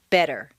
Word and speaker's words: better: the t and listen the double t in better is pronounced d better any other pronunciation will